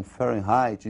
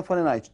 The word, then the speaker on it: Fahrenheit: escala fahrenheit pra ele sair se pronunciam fé right nós vamos pronunciar aqui do modo aportuguesado nós vamos falar de fahrenheit mesmo é escolinha farinati também tem dois pontos